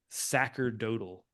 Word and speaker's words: sacerdotal: And it says there's this phrasing they use called sacerdotal. Sacerdotal, yeah. Well, it's both. According to Wiki, it's both pronunciations are proper.